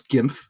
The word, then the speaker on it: GYMF: But yeah, but once you know it's GIMF, then you just say GIMF.